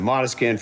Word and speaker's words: Måneskin: So coming in at number 5, it's a tie between Måneskin, which I thought it was Måneskin, but actually I heard the singer pronounce it Måneskin from Italy, They were fantastic.